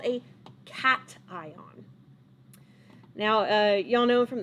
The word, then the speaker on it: cation: it's not like cashew it's cat ion like a cat like the animal a neutral atom could